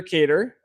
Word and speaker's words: Kedar: Well, my name is Kedar.